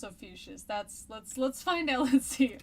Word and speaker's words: Ophiuchus: That's what I'm gonna call it, like Confucius, Ophiuchus.